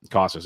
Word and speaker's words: Casas: And Triston Casas, or Cases, I always mispronounce it, got called up. Casas, okay.